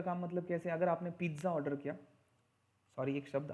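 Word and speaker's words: pizza: आ गया तो मैं, पिज्ज़ा का स्पेलिंग भले ऐसा हो लेकिन पिज्ज़ा का प्रोनाउंसिएशन ऐसा होता है, पिज्ज़ा. टी होता है उसमें, बिकॉज ये इटालियन टर्म है, तो उसका प्रोनाउंसिएशन हम पिज्ज़ा करते हैं ज, बट उसका प्रोनाउंसिएशन पिज्ज़ा होता है. ट आता, टी आता है उसमें, पिज्ज़ा. इट्स नॉट पिज्ज़ा, इट्स पिज्ज़ा.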